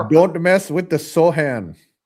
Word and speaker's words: Sochan: Oh, they say pronounce Sochan as Sohan.